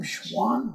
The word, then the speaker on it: Schwan: and how do you say your last name Schwan Schwan schan okay schan uh running for city council